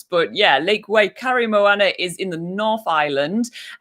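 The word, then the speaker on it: Waikaremoana: hike um okay next number seven is lake wakare moana yes um this is uh first of all quite a hard lake to pronounce but yeah lake way curry moana is in the north island um and it's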